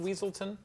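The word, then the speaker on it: Weselton: saying this in chat last round is it pronounced weaselton well that's like one of the jokes that's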